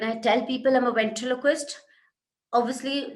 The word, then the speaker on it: ventriloquist: It is a difficult word to pronounce. Then there are some people who would say, you're a ventricologist.